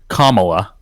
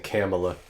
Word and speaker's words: Kamala: And that happens to be Kamala Harris. I think either pronunciation is fine as long as you're not saying Kamala.